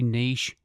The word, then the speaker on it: niche: Now, whatever your aspirations, finding your photography niche or niche, I need to get that one out of the way, don't I? Because it depends where you are, how you pronounce the word. Niche or niche.